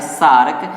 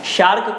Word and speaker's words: SAARC: इसके स्थान पर हिंदी में इस सार्क का प्रोनाउंसिएशन जो होता है सार्क, यही आपसे पूछा जा सकता है। तो एक तो ये रखिएगा ध्यान, शार्क को हिंदी में सार्क पूछेगा, इंग्लिश में इस तरह का पूछेगा।